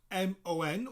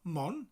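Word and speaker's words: Môn: the second word is spelled m-o-n with a little toe above it a little upside down v that elongates the o so it's not mon but mon almost like the like the moon in the morning morn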